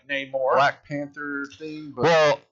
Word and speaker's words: Namor: Namor. Is that how you say it? Yeah. Namor, Namor. not Namer.